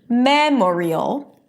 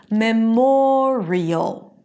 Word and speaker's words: memorial: It's not memorial. No, the stress does not remain on the first syllable. It shifts to the one syllable before the suffix and then it becomes memorial. Memorial.